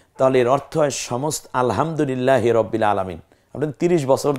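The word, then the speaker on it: الحمد: কত ব্যবধান হয় একটু খেয়াল করুন যেমন আপনি আলহামদু লিল্লাহি রাব্বিল আলামিন এ হচ্ছে সহি উচ্চারণ কিন্তু আলহামদু এই যে উচ্চারণটা করলাম এর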